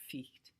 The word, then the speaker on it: fight: GH in the middle of all those words we have, night, fight, those GHs were pronounced. So fight, or ficht, actually.